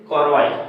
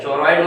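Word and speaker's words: choroid: Second is कोरोइड, ठीक है, चोरॉइड मत बोलना, कोरोइड एक्चुअली एक डिक्शनरी में देख रहे थे तो उसका जो प्रोनाउंसिएशन था इसको चोरॉइड बोल रहा है, ठीक है। और बाकी के ब्रिटिश और अमेरिकन इंग्लिश में आपका कोरोइड पढ़ते हैं इसको, ठीक।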